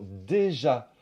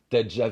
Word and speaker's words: déjà: modifie la prononciation c'est le mot déjà qui perd son son et donc au lieu de dire tu es déjà venu on va dire tjà venu tujà venu déjà se transforme en D et enfin dans